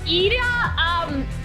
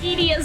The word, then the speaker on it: Idia: I called, like, Ida, oh God, I called Idia, I can't even remember which one's right. I pronounce Ida's name wrong all the time. That's all you have to know. Idia's name wrong constantly. I'm pretty sure it's Idia, but anyway.